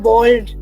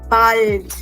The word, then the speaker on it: bald: It is not bald. Okay? It is not the English bald. This word will be pronounced as bald.